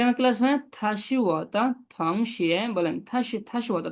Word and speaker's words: 同学: থং টি ও এন জি হবে থং, ও এন জি উচ্চারণ হবে অং থং। থং শিয়ে, দুইটা সেকেন্ড 同 বলেন তো।